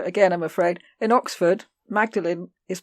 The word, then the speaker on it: Magdalen: going to do again I'm afraid in Oxford Magdalene is pronounced modeling that's Maudlin I've always wondered because when you look up